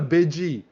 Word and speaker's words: Bidgey: And yeah, shout outs to Bidgey. Bidgey. Everyone likes Bidgey. It's just a fun name to say because it's like Pidgey the Pokemon, but like it's intentionally mispronounced because it's big-eyed Python.